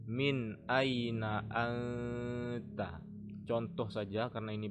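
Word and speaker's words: مِنْ أَيْنَ: sedikitpun maka ini bacanya Min Aina Anta contoh saja karena ini bukan Quran ya Min Aina ini tidak dibaca Min tidak dibaca mim tidak dibaca Miu Mi tapi min Aina Anta yang ini dibaca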